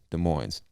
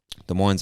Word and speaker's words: Des Moines: moines or des moines i'm sure the s is silent because i believe it comes from french and most of the